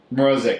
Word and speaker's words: Morozic: Do you know how to say it? It's Matt Morozic. Morozic, okay.